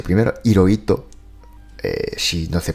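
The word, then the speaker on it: Hirohito: Claro, yo me presento como, porque ito es mi apellido y en español la H no se pronuncia, realmente esojito. Hiróito, pero hay una H. Bueno, primero hay una H primero. Hiroito, eh, si no se pronunciara la H.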